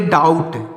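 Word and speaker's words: doubt: यू बी टी तो यहां पर बी साइलेंट है तो इसको पढ़ेंगे डाउट क्या पढ़ेंगे दोस्तों डाउट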